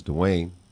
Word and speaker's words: DeWayne: and not only that it rhymes with my name you know my name is Duane insane take off the D Wayne okay that works in